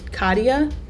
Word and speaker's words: Katya: name is Long obviously I have like three syllables in my name Katya it's like Lydia so I didn't even